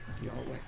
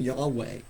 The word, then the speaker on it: Yahweh: actual name of God that we usually pronounce as y y way Yahweh if you think back